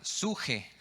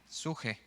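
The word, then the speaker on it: ψυχή: corazón, en el griego es la palabra suje, ¿sí? Se escribe P-S-U-C-H-E, suje, ¿sí? Y de ahí salió la palabra psique.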